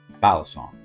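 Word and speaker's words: balisong: the experts because everybody's a knife expert now bison is a proper way to say it if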